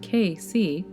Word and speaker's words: Cayce: 20th century psychic and medical Clairvoyant Edgar Casey pronounced KC 1877 through 1945.